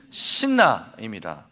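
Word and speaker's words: 시트나: 그래서 이삭은 그 우물 이름을 신나라고 하였다. 아멘. 여러분 두 번째 우물의 이름이 무엇이라고요? 신나입니다. 발음을 잘해야 돼요. 우물을 또 발견해서 신난다 이런 뜻이 아닙니다. 이 신나는 대적, 원수 이런 뜻이에요.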